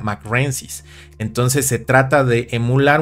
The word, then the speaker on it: mcraeensis: no es por eso que se pronuncia como m renis se pronuncia como m renis porque viene de este la formación mcre y